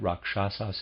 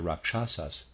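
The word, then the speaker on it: rakshasa: to the auras of the Indians readers aside rasas is spelled r a k s h a s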